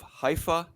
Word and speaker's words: Haifa: okay 28 years old 210 63 out of haifa israel is that how i say it did